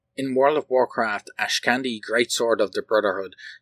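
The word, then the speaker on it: Ashkandi: both weapons are unknown Ash candy I'm not sure how to pronounce that one actually it's spelled a h k a n d i I'm going to call it Ash Candi because it's easy for me to pronounce it that way in World of Warcraft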